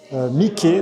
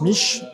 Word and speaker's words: Miche: Donc aujourd'hui, ben je vais vous faire visiter Mickeé, donc souvent en France on prononce Miche.